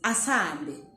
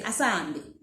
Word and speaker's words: asihambe: Hande asihambe. Alright, so that's how we write it. Asihambe. However, people normally pronounce it as asambe. You kind of don't pronounce the H, just say asambe.